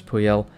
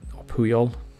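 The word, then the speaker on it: Puyol: player at this time Carlos puel um puol puol said it wrong the first time great physicals as you'd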